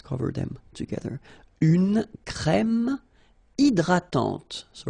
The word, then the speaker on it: hydratante: Une crème hydratante. So remember, H is not existing, and then this Y is pronounced like I. Hydratante.